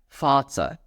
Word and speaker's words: Vater: For example, in the words that you can see on the screen, we will pronounce it as Vater, Vater. And that's, as you can see, you will pronounce the as F, Vater.